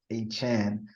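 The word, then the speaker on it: De'Von Achane: new pronunciation it's Devonte you thought it was a chain but it's a Chan because didn't they tell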